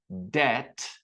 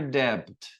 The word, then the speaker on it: debt: in their audio series, debt. No T, no B. Sorry. No B is pronounced. It's never debted.